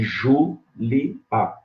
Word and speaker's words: Júlia: Se você dividir Antônio como hiato e Júlia como hiato, você vai ver que a sílaba tônica é a terceira. Antônio, proparoxítono. E Julia, proparoxítono.